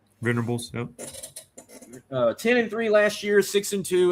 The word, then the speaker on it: Venables: Venables, yep.